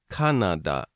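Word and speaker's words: カナダ: Canada compared to Japanese kanada I went to da this is a nice point about Japanese in that the vowel sounds don't really change and so you can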